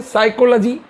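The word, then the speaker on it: psychology: कुछ होता ही नहीं जब पी और एस कुछ होता ही नहीं लेटर बनता ही नहीं तो हमने पी साइलेंट करना पड़ा इसलिए इसको हम बोलते हैं साइकोलॉजी इसी प्रकार से अगर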